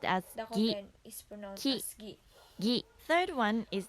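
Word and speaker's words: ぎ: Psen is pronounced as gi, ki, gi.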